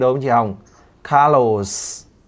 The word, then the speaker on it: Carlos: luôn luôn nhớ nhá cái từ caros chị phải nhớ là cái âm cuối cái âm S ở tên anh ý chị phải phát âm cực kỳ rõ cho em đ không